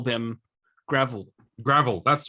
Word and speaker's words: Gravill: Yes, I believe we call them Gravill. Gravill, that's right. Gravill. Yes, Gravill. Not. I'm going to go and pave my driveway. I need some gravel. No, it's Gravill. Gravill.